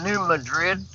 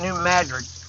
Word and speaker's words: New Madrid: Some people call it New Madrid. Around here we pronounce it New Madrid. Anybody else in the country calls it New Madrid.